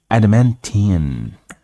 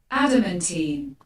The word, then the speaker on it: adamantine: Adamantine. Let's see how it's pronounced. Seriously? Adamantine.